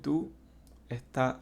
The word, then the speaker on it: does: Esto no se pronuncia como se ve, ¿vale? El do, esta O se pronuncia como si fuera una U. Do. Y esta OE se pronuncia como si fuera una A. Entonces quedaría does.